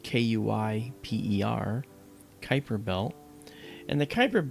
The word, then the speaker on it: Kuiper: That's spelled Kuiper, Kuiper Belt.